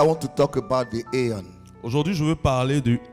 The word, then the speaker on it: aion: And you have to pronounce it aeon.